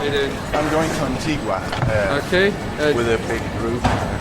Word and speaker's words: Antigua: That was before I learned that it's pronounced Antigua and not Antigua, which is what you would think when you see it in writing.